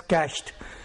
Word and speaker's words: cached: a web page it gets cached it is pronounced as cached meaning that it is stored temporarily into the